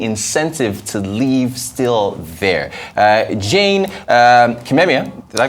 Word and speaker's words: Jane Kimemia: Jane Kimemia, did I pronounce that right?